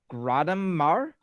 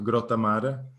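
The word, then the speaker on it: Grottammare: supposed to pronounce this gratimar where is that hometown it says fly products home grottomar okay yes i was pronouncing it very english no so for everyone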